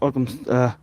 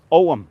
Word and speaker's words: Ogham: This looks like it's the Ogham stone. This may be the Ogham. It's the old Irish language was called Ogham, if you like, Ogham or Ogham. So different people have different pronunciations. It's Ogham. So along from the fort